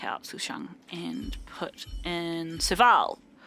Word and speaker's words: Serval: Suval, whose name is spelt Serval. And because I used to work with Servals, I have to work quite hard in my head not to just call her Serval. So it's pronounced Saval.